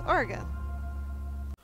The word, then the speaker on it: Oregon: It's like how people pronounce Oregon like Oregon or Oregon or Oregon, like Oregon as in organs. It's Oregon.